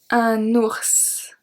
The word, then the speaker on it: ours: Very common animal where I live, un ours. Un ours. Ours, don't forget to make the liaison here.